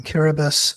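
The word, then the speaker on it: Kiribati: I was spending a lot of time in kirbus uh which is spelled kirati which is three hours on a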